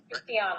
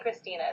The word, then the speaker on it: Christiana: are you good good i just want to make sure i'm pronouncing your name correctly it is christiana right christiana yeah okay yeah as long as you don't call me christina that's not my name my name is i'm